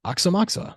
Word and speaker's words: Aoxomoxoa: strange trip documentary where Mickey Hart pronounces it and he's like oxamoxa I don't know why